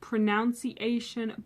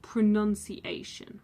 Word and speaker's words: pronunciation: pronunciation So, this one is quite confusing because a lot of people will think that it is pronounced pronunciation, but no, it is actually pronounced pronunciation.